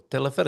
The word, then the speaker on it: Teleférico: Yes, with an accent on the E, the last E. Yes. Teleférico. Yeah, because if you have an accent, you always stress where the accent is.